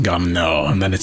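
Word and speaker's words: Garneau: let's try that again I pronounce it as gar near gardenia I think if you put that card now gar know but you have to put on the French accent gum now and then it sounds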